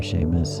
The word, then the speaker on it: Seamus: whatever the case in the Gaelic language s e and Si are pronounced the same as an uh an American English sh so you'll typically see